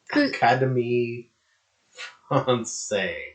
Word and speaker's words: Académie française: Académie Française.